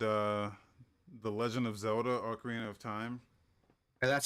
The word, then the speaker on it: Ocarina of Time: new game called uh the legend of zelda ocarina of time and that's how you pronounce it i was reading it i was